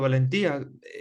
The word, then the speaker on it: Valentía: No sé, ¿es con acento en la I o Valentía? Como Valencia, pero con T, no lo sé. En verdad es valentía, pero podría Valentía.